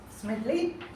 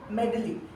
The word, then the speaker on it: Smedley: Smedley, but I must say that you pronounced it as Ralph C. Medley.